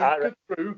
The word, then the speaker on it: Khatru: Okay, well, let's move on to the last track, Siberian Khatru. Have I pronounced that right? Yep, Siberian Khatru.